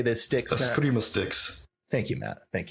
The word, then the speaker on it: Eskrima: Eskrima sticks.